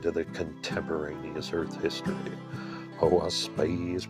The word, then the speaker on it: Oahspe: lower books pertain to the contemporaneous Earth history o spay is pronounced o as in a clock I as